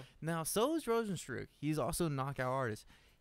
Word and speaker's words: Rozenstruik: Yeah, Rozenstruik.